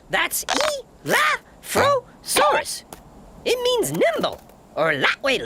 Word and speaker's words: Elaphrosaurus: I'm Elaphrosaurus. That's Elaphrosaurus.